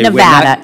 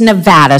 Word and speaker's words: Nevada: a month point in okay Nevada it's Nevada sir please say it correctly it's Nevada if a veteran lives